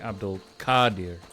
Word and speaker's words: Abdul-Qadir: in and was like, no, it'd be Abdul-Qadir, like it's a long A sound. But then everybody I talk to is like, oh no, yeah, Abdul-Qadir, like there's about 6